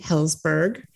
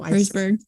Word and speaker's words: Herzberg: I have brought back the Herzberg. No, Herzberg. I said it wrong tonight.